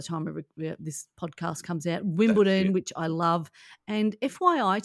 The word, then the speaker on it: Wimbledon: There's just one of them as Wimbledon, D-O-N, no, not T-O-N.